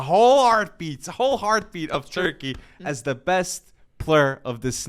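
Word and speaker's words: Türkiye: to say it right it is not turkey anymore it's turkey a whatever happens here though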